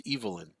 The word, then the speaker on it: Evelyn: because her name is spelled Evelyn but it's pronounce evilin and uh I always feel like if I say evilin people are going to laugh at me and